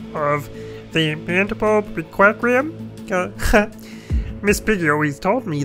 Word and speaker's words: Requiem: CenterStrain01 here, and we've got more the Mandelbulb Requiem. I want to say Requirem, but I know that's not how you say it.